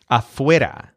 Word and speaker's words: afuera: So notice that the stressed syllable is wear, like you're trying to wear something. So afuera.